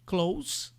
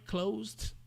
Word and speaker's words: close: Mas quando você está falando do verbo, aí tem uma pequena variação que esse s tem som de Z. I closed the door, closer.